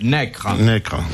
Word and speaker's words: Necker: Pourquoi Madame de Staël et Necker, prononcé Necre, sont-ils enterrés côte à côte à Genève?